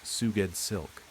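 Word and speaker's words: Sgoueddslk: S G O U E D D S L K, pronounced Suged Silk.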